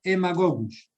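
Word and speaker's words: Haemagogus: el mosquito en magogus se escribe con h a hemagogus y se pronuncia emagogos muy bien etiología y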